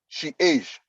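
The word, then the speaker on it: chage: e c h a g e is is pronounced she age so change age so for instance that you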